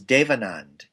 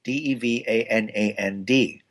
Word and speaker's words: Devanand: My actual name is Devanand, Devanand.